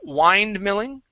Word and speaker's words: windmilling: for you instead of wind Milling it is wind windmilling I okay a wind Milling okay instead of wind wi wind use a short eye sound there windmilling windmilling good good all